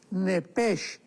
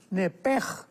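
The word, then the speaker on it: נפש: porque es la palabra nepesh con sh al final. Neph. En el hebreo se pronuncia eh la sh con j. Entonces, la pronunciación hebrea es nepej.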